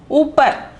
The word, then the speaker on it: ऊपर: The first one is upar. Upar. The pronunciation is upar.